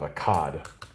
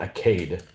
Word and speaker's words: Akkad: them was sargon of akkad it's not a cade so technically i guess